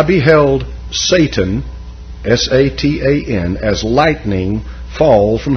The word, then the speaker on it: Satan: Because in Hebrew, it is spelt exactly the way you see it here and pronounced almost the way that an Englishman would pronounce it today. It's Satan.